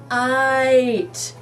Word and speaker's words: kite: Look at the red kite. There's that I. Straight line down, dot on top, kite. T. And there's a silent E at the end.